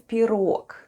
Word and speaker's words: пирог: And the last new word for today is пирог.